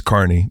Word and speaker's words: Kearney: spell it Kerney with it's Carney but it's spelled like Kerney and uh yeah one